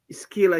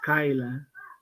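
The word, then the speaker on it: Scylla: Skyla is the second one. Skila is the first one. Am I right? Yes, you're right. Skyla DB. I don't know why. Um, I don't know why. Google is pronounced as Skyla.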